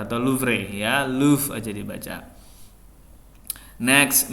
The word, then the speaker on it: Louvre: Nah, ini bahasa Prancis dibacanya Louvre, bukan Louvre atau Louvre ya, Louvre aja dibaca.